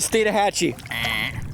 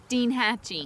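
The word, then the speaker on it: Steinhatchee: Okay, first order of business, learn the correct pronunciation of this beautiful river's name. We're here at Stina Hatchee. Wrong. Stina Hatchee. Enthusiastic, but wrong. Scoloping in the Stina Hatchee. Dean Hatche. I got it.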